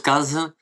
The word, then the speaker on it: Cazes: Les réseaux sociaux en tapant mon nom et mon prénom, Cazz. Alors ça s'écrit Kazes c'est à Z et euh je suis partout.